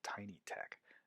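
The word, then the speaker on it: TinyTeX: to need there is called tiny tech which is spelled tiny text so install got packages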